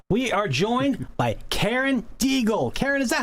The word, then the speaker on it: Deigl: are joined by Karen Diegel Karen is that how you spell how you pronounce your name yes you pronounced it perfectly it's deagle correct Karen Diegel you're the